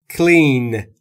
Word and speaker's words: clean: کلین یعنی تمیز کردن clean clean clean before eating یعنی تمیز کردن همون طور که گفتیم دقت داشته باشید تلفظش رو نگفتم کلین یا کلین بین سی و ال صدایی وجود نداره کلین ت یعنی میز